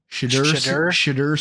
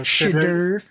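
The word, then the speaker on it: Shedeur: Shadur Sanders. Okay. Yeah, because I've been butchering that for the last however long. So Shadur.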